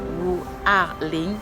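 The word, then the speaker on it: 五二零: Donc c'est 520 en fait qui se lit Wu Arling, qui ressemble un peu à Wo ai ni dans la prononciation.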